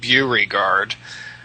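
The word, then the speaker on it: Beauregard: lot of uh um B reg guard uh streets that are pronounced buy guard yeah anyway of course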